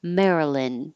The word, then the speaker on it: Maryland: to releasee the D Marilyn and then yeah it will sound like the name Marilyn Marilyn Monroe but it looks like Maryland and it does not sound like it Maryland So speaking of